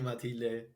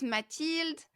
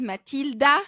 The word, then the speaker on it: Mathilde: Well, it's actually Matilde in Bye Spain, bye. so that's why I'm pronouncing like that. You know that? Yes, you say it perfectly right. Matilde. Matilde. You Yeah. pronounce it Matilde, right? Yeah, in French, so it's Mathilde. I know in Spain it's Matilde. In the US, a lot of people think my name is Matilda.